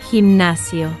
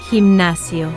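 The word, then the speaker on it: gimnasio: It is pronounced with that throaty Spanish J sound we just practiced. Himnasio.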